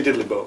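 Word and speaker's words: diddley bow: they're called diddly bow say diddly boo say it like having a carbonated drink in your mouth diddly B it's so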